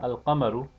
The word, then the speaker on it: القمر: No such assimilation takes place with the lunar letters. For example, al-qamaru is pronounced al-qamaru.